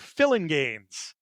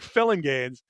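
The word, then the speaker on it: Phillinganes: And it's pronounced like it looks. Greg Filling Gaines. I' I've always seen that name and wondered is it Filling Gaines, Felinganese? It's Greg Filling Gaines.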